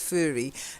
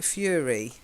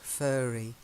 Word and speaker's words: furry: of it's furry now the way you say it it sounds too much like fury fury is furious intense anger yeah she was furious okay fast and furious yeah fury yeah but it's fur so it's furry what's that sound furry